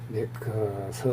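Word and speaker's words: MacArthur: 그의 성씨를 메가더로 포기하지만 실제 발음은 메카서 혹은 버카서 혹은 메카서에 가깝다.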